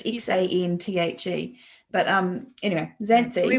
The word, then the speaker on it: Xanthe: Xanthi. I don't even know if that is how you say that name. It's Xanthe.